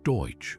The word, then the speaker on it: Deutsch: The term Dutchman was a common American mispronunciation of Deutsch, meaning German, and it was Waltz